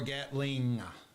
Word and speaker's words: Gatling: Gatling or Gatling? It's got a G on the end. I know, but nobody pronounces it. I pronounce it Gatling. Yeah, I'm trying to give the everybody just says Gatlin.